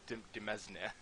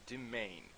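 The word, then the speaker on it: demesne: roared learned recently that apparently this is not pronounced dimdim esna I really thought it did but apparently it's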